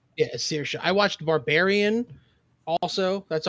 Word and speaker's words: Saoirse: Yeah, Saoirse.